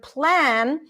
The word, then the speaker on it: plan: So, Christina was asking about the word plan, but Christina actually the L in plan is light. It's light. Plan. Yeah. Because before the vowel.